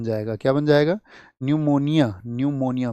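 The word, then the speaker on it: pneumonia: न्यूमोनिया। पी निमोनिया पी से spelling होती है। वैसे तो इसकी निमोनिया होता है।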